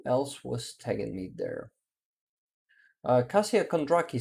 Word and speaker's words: Kasia: My name is Polish. Lol pronounced Kasia. Aha, it's Kasia, not Kasia. Kasia.